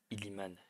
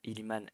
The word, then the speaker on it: Iliman: On se retrouve aujourd'hui pour une toute nouvelle vidéo dans laquelle on va parler du cas Iliman, Iliman, c'est bien comme ça qu'on le prononce, Ndiaye, l'OM ou rien.